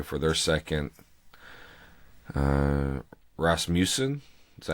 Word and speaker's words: Rasmussen: headed that way for their second uh uh Rasmussen is that how you pronounce it yep okay uh Daniel Hudson went